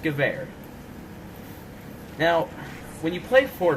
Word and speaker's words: Gewehr: some people pronounce it gooer that's fine and up to you but if you really want to be a gun nerd it's pronounced gewehr now when you play